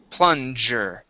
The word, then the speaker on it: plunger: This word here is plunger. Okay. The G is going to be a J sound.